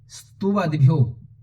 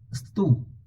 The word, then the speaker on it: स्तुवद्भ्यो: स्तुवद्भ्यो, ये थोड़ा सा कठिन शब्द है, पहले आपको उच्चारण करना है स्तु, सतु नहीं बोलना है, स्तु, स्तु, फिर है वद्भ्यो, वद्भ्यो, स्तुवद्भ्यो भक्तिपूर्वम त्वाम, स्तुवद्भ्यो भक्तिपूर्वम